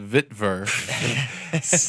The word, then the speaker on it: Witwer: It's pronounced Vitver.